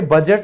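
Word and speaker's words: budget: जैसे बजट में D silent है, ये तो सबको पता है।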